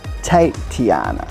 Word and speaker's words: T8iana: it so it's actually t8 iana which is te tiana so that's how you pronounce it you pronounce it tate tiana that's correct tony and the funny thing is